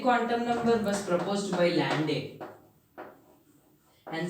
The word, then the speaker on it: Landé: As we have discussed in our first video, the magnetic quantum number was proposed by Landé and some pronounce it as Linde.